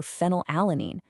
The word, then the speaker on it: phenylalanine: The F in fly stands for phenylalanine. Yes, I know it starts with a P, but phonetically it sounds exactly like an F, and biochemically, its official single-letter code actually is F.